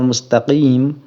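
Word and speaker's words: مستقيم: e qof ya ihdiniratal mustaqim kita itu kan pakai Q itu eh Habib Bahar itu membacanya ihdiniratal Mustaqim itu dengan dekat-dekat Ke Apa Ke huruf g begitu dekat ke huruf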